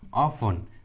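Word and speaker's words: often: कुछ common English words में T silent होता है, जैसे Christmas, Christmas, listen, ऑफन, whistle.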